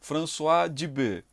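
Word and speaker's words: François Dubet: françoar de bebê pessoal eles são franceses é assim que se pronuncia françoa de bebê e ele também questiona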